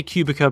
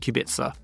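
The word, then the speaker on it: Kubica: Rudolph ker Robert kubitza some people say cubika but again as I mentioned before dinina galita the C is s so Robert kubitza Kel kunka Masa kushima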